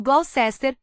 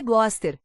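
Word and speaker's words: Gloucester: "No Glowsester", responde Coque alto. "É assim que se pronúncia? Acho que é Gloster."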